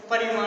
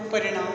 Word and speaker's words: परिमाण: जिसको आप सभी कई बार उच्चारण की दृष्टि से क्या कर लेते हो? परिमाण को क्या समझ लेते हो? परिणाम समझ लेते हो। तो ये परिणाम नहीं होता, परिमाणवाचक विशेषण होता है।